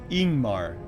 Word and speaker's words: Ingmar: Ingmar is pronounced ingmar leading with a vowel sound.